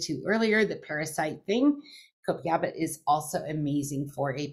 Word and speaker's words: Copaiba: Copaiba, I think, is how it is.